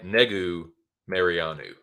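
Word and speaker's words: Negumereanu: mariano once again nikolai negu mariano i paid close attention when uh when anak was saying it and that's how it's pronounced i didn't just know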